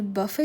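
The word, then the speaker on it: buffet: আর এখানে বাফে ছিল। তো একজন বলল যে আমি বাফেটাকে ভুল প্রোনাউন্স করেছি। ওটা বুফে হবে। তো আমি তো জানি বাফে আর বুফে দুটোই ঠিক।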